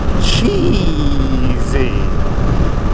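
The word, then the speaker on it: Cheeeesy: way on the website, Cheesy. Spelled with four E's, and they want you to pronounce all four E's.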